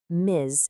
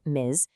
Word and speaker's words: Ms: Miz, and you pronounce it Miz, is basically the female version of mister.